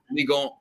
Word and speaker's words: Ligue 1: Ligue 1.